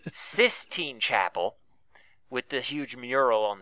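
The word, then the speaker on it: Sistine Chapel: huge mural 16 sir 16 Chapel 16 Chapel or 16th Sis Sis Sis damn I've been saying it wrong for years okay sis Chapel with the huge mural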